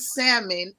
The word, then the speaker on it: salmon: have a pet peeve if you pronounce l and salmon it irritates the life